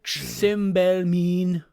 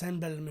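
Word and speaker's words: Simbelmynë: Cymbelmine. It's pronounced Senbelmune.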